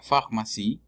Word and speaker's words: pharmacie: La P y la H, la pharmacie. Y la E al final está muda, porque no tiene acento.